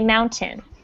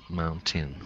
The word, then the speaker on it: mountain: Okay, and Okay, I want you to pretend that the second syllable, tin, is spelled T-I-N, tin. Okay, mountain. Mountain.